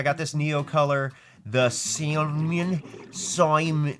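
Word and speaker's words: Saumon: I got this Neo color, the Simon. If you read this, it's spelled weird. It's literally S-A-U-M-O-N. Simon, whatever. But yeah, we're gonna go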